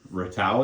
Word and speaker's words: Ratau: Yeah, and then Ratau is how you say his name?